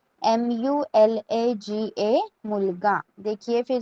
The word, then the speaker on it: मुलगा: कैसे प्रोनाउंस करना है? MULAGA, मुलगा.